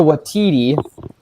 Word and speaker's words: Waititi: Waititi, that's how it's pronounced, for Yep.